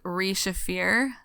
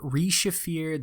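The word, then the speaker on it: Re-Shephir: Another name for this Unmade is Re-Shafir. So we have Re-Shafir, the Midnight Mother.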